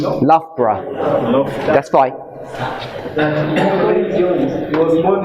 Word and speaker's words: Loughborough: I don't know how to pronounce his name. No? Loughborough.